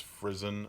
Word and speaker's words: Frison: I've had some people ask me, are you sure it's pronounced Frison? And Jenny herself told me it's Frison like prison.